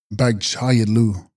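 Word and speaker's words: bag-chags yid-lus: Text, Bagchags Yidlus, pronounced Bagchayidlu.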